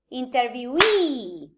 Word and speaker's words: interviewee: the the suffix um interview interviewee so the the stress uh the main stress of the word moves to the location of the suffix well connected to this